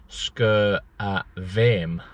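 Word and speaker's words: Sgùrr a' Mhàim: person, who basically said the pronunciation of the mountain is Sgurr Mhaim. So the M is pronounced as a V.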